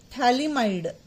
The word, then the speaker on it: Phthalimide: I call it children I call it एस थैली माइड इसमें pH silent है आपका है ना तो याद रखना थैलम बोलते हैं लेकिन आगे पीएच आता है अब इसको आप ट्रीट